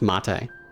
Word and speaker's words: mate: That's probably pronunciation. Yeah, it's mate, which is, okay, we're using Wikipedia here, but it says mate is a traditional South American caffeine-rich infused herbal drink.